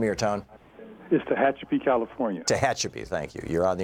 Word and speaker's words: Tehachapi: taking and answering your calls and Anthony in tech hat how do you say that Anthony I know I screwed it up before what in California there hi Tom what's the name your town mister hatchapee California Tehachapi thank you you're on the air with Carson